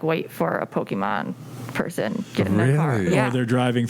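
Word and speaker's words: Pokémon: some walking around uh can you say it correctly though i don't know which part pokemon pokemon thank you what was i saying pokeman oh this is insufferable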